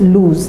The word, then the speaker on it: lose: So because it's a verb, it can be conjugated and it is lose. There's only one O there. In loose there are two. This there is one. Pronounced with Z.